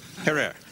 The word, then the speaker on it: Herer: Have I pronounced it correctly, Jack? Herer.